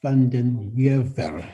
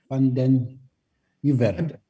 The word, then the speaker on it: van den Heever: Van den Heever. Van den Heever. Yeah, there are many pronunciations, but Afrikaans people pronounce it supposedly correctly, and mine still says Van den Heever.